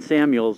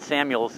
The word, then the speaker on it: Samuel: So Reuben Samuels was probably the close Samuel. The reason why I said Samuels is a lot of people did mispronounce the name.